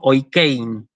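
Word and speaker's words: οἰκεῖν: Fíjense cómo está escrito, es decir, el circunflejo arriba de la iota, pero yo el acento lo pronuncio sobre la E. Por eso digo oikein y no digo oikein, ¿sí?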